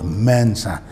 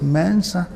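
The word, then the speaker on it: Mensah: our names in Ghana we call ourselves Mensa there's no mensa it's Mansa we said lumpy that's what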